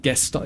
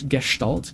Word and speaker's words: Gestalt: Yeah, Gestalt is just German. I think I'm actually pronouncing it correctly. It's not Gestalt, it's Gestalt, correct?